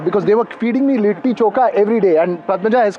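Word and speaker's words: litti chokha: they were feeding me lit choka every day and Pata has corrected that it has to be lit choka not lit choka just as I keep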